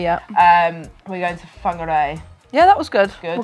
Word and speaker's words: Whangarei: are going to but I don't want to pronounce it wrong so you guys whangarei yeah um we're going to whangarei yeah that was good we'll go with that